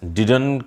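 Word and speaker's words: didn't: यस, डिडन की आप practice कर लें। इसका प्रोनाउंसिएशन में लास्ट में टी साउंड को हम टच नहीं करते हैं, पहले पूरा डिड बोला जाएगा और फिर न, डिडन, डिड न, डिडन।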